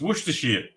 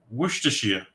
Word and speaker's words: Worcestershire: You'd know you don't have to pronounce the Shire part when you say it. Worcestershire.